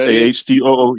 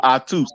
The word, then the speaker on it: Atu: Your name is Atu. Pronounced AHTOO. Yep. Pronounced AHTOO. Oh, so like the Das Effect song, like Spit? That No. See, you said it wrong. Atus.